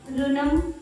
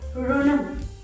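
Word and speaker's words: ఋణం: Okay, so instead of pronouncing these words as Rutuvu, many of them are easily saying it as like Rutuvu, Rushi, RuNam, Rutuvu, but it should be Rushi, RuNam, Rutuvu. See, our Telugu language has this sound Ra.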